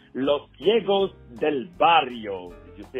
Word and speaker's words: Los Ciegos del Barrio: leader of a fantastic band that is called losos Del bario did you see how pronounced it right losio and you're going to